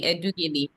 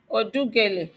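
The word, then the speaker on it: Edughele: My name is Edugeli. My humble appearance is for the defendant, my lord. is spelled, my lord. Odugele. Edugele is spelled E-D-U-G-H-E-L-E, my lord.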